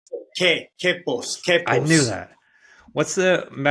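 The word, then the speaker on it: Quepos: the town correctly yeah you don't pronounce the U so it's K Kos I knew that what's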